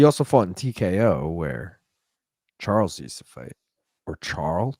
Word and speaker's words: Charles: He also fought in TKO where Charles used to fight. Or Charles. Do you say it like Charl? You don't say the S, right?